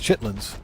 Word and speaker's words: chitterlings: pork chitlins or pork what's called chitterlings or as we as we pronounce it in the northeast chitlins pork chitlins if they're prepared right absolutely but they got to be prepared the right way.